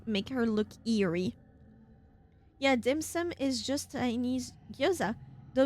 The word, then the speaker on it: dim sum: Is it dimson? I'm pronouncing it wrong for sure. It is. dim sum.